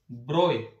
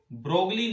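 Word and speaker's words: de Broglie: इनका पूरा नाम है Prince Louis Victor डी ब्रोय। ब्रोगली नहीं बोलना है, ब्रोय होता है, ब्रोय, BROY।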